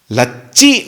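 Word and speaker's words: लछि: Ayodhya, the Avadhi Bhasha, Lakshmi is generally pronounced in a simple way, Loka Bhasha, Lachi. Lakshmi, which indicates prosperity, and Alachi indicates poverty.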